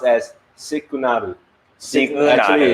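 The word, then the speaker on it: シグナル: And if you can read the katakana over there, in which I have teach many moons ago, it is pronounced as sikunaru. Sikunaru. Actually, it's signal.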